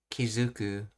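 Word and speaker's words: 気付く: so, mind, attach, in other words, to notice, Kizuku, and it's pronounced as Zu because of the 10-10 rule when attaching things.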